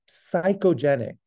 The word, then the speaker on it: psychogenic: is the other s psychogenic it starts with a P but we spell it with an S psychogenic or functional transient